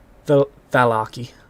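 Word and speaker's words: Vallaki: Is it Walaki or Velaki? Valaki. Valaki. Can you It's put because me I've on heard the like map? things in I've just heard like things in Barovia. Sometimes the V's are pronounced W's.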